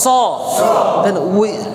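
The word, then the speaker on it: صاد: Scene আর সদের মধ্যে হচ্ছে scene পাতলা, আওয়াজটা পাতলা হবে, আর সদের উচ্চারণটা কি হবে? আওয়াজটা মোটা হবে।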